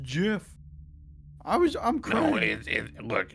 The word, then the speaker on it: GIF: Hey, I'm a gif. We're hippos, but like from space. That guy's a freaking space hippo. Pronounced Jif. I'm crying. No, it, look, anyone who knows the debate knows that it's gif, okay?